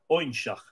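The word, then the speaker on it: Óinseach: It's spelled O-Father, I-N-S-E-A-C-H, Oinshach.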